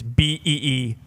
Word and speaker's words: Bijan: And he said on his board, phonetically, it is Beezhan.